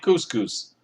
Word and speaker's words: Couscous: Anyway, welcome to Camp Couscous. It rhymes with moose, and that's another good thing about it.